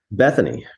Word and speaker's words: Bethoney: excited to be here how do you say your last name because it wasn't in your bio I realized as I was introducing you Bethany Bethany is the name so a character in